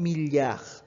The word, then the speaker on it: milliard: And 1 billion is 1 milliard. You don't pronounce the D.